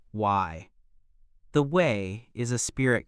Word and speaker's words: way: To understand the Maya fully, one must also look at their concept of the way, pronounced Y.